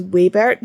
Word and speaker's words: Waybert: I've been calling Wbert for ages, but the pronunciation and this is Waybert. W A Y and Sebert.